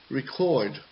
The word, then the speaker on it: record: different sounds okay so depending on whether it is a verb or a noun and that depends were the stressed syllable goals so for example record record record is a verb and so as such the stressed syllable goes at the end for the noun and it goes at the beginning record record not record record